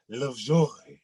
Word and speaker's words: Lovjoy: That's why it ain't no E on my shit. It's pronounced Lovjoy.